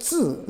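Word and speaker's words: 字: And the second layer is called the zi, Z-I, zi. Tone is fourth tone.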